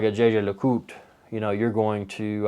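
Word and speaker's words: Jaeger-LeCoultre: the holy trinity then there's a brand called jj le cout it's pronounced it looks like when you read it it's like jager lakotra but it's jj lecout or jesus so they're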